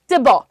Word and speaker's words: Thibaut: इसके ऑथर का नाम है टिबॉ। इनकी स्पेलिंग होती है THIBAUT। ये फ्रेंच आदमी है भाई।